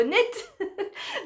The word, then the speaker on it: knit: Ah oui, alors, on n'entend pas le K quand on le prononce dans le mot knit, mais c'est celui-là qu'on a retenu.